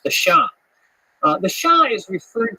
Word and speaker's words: Xia: uh in Chinese history which is called the Sha uh that's spelled xia in modern Western romanization system the pinion system of of spelling Chinese words the Sha uh the Sha is